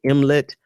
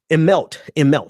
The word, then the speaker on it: Immelt: Washington Post article, Jeff, what is Immelt and Bernie Sanders?